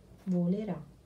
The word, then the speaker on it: volerà: Lui volerà. Accento sulla A.